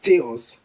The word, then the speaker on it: chaos: Well, this is not pronounced as chaos or chaos. The CH is often mistaken for the soft CH sound, like ch. But the word should be pronounced as chaos, chaos, chaos. The CH takes a hard key sound, reflecting its Greek origin.